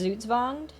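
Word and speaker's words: Zugzwang: if I remember correctly it's a German word it's supposed to be pronounced zuzvonged um but for the sake of sounding silly I changed it to zug's winged excuse me Crow Lord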